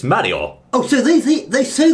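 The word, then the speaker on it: マリオ: sound like that then Mario would sort of be h no no no no it's actually Mario now they don't say notice they don't say Mario they actually say Mario so there you go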